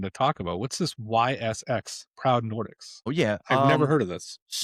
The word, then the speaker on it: Ys: That's how you say it, is Ys.